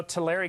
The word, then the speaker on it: Tulare: we took which is really unfortunate you know Tulare County is how it's pronounced actually but the Terri County we are